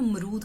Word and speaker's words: मरूद: तो अमरूद को हम डोगरी में मरूद कहते हैं। अमरूद को हम डोगरी में कैसे प्रोनाउंस करते हैं? मरूद।